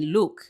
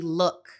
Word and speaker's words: look: No es book ni look, es book y look.